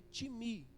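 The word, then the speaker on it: τιμή: vem do grego que que se escreve time né mas a pronúncia é Tim me escreve realmente né t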